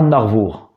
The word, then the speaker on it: An Arvor: qui se trouve à Narvour, c'est-à-dire sur le littoral. Alors, en breton, le nom c'est l'Armor. En français, le nom c'est l'Armor. En breton, il se prononce Narvour.